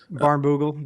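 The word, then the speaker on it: Barnbougle: And there's a a really famous track in Tasmania called I can never pronounce it right. Barn Barnogle. Baroole Dunes.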